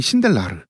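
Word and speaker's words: Sindelar: 원래는 체코계라서 이 성이 신델라르. 독일식으로 발음은 zindel라라고 해야 되는데 그냥 신델라라고 하겠습니다.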